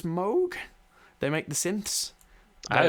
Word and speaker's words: Moog: I believe it's Moog. They make the synths. I always called it Moog. Yeah, I did, but apparently it's Moog.